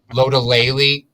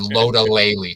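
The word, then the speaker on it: Lotulelei: tulay although my god can the announcers just pronounce his name correctly for the love of god lodolayly james often said low to lately today um so but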